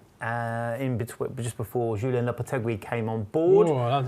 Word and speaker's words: Lopetegui: In between, just before Julien Lopetegui came on board. Oh, that was a lovely little pronunciation. Oh, thank you very much. Lopetegui.